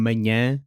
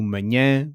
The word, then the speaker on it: manhã: For nh, the ny in canyon does the same job. Slowed down and dropped into manhã or sonho.